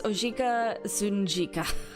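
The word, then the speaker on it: Ojika Tsunjika: allow me to introduce oika zunika I think it's I think the J is silent but I'm going to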